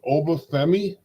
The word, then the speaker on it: Oba Femi: the North American champion sorry if I say this wrong Oba femi you said it exactly right that's how they pronounce his name versus d d versus